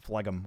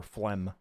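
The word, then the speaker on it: phlegm: Why is the G silent flegum? Why is it even there? Flem and why is it spelled with a ph should just be f l flem.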